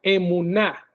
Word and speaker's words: emuná: Sí, esta palabra, si la quieres anotar, de fe o le creyó a Dios, es la palabra hebrea emuná, con acento en la a.